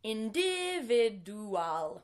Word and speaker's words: individual: So, for example, individual. Let's say it correctly now. Individual. Do you hear how the D and the U actually blend together to make this J sound?